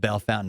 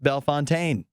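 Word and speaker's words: Bellefontaine: Bell Fountain Ohio but if you know about Bell Fountain Ohio it looks like it should be pronounced Bell Fontaine and there's a million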